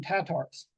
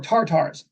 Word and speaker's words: Tatar: calls them tatars or tartars it's interchangeable Tatar tartar just just a slight pronunciation difference but how could they